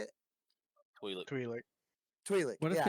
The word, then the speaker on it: Twi'lek: Twi'lek.